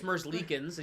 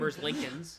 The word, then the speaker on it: Merzlikins: Well, So you see, Elvis Merzlikins. You said Merzlinkins.